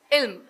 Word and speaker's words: ILM: children for these children when pronounced sounds as ill ill means knowledge ilm